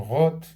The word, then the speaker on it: Roth: C'est écrit Rata, ça se prononce Roth.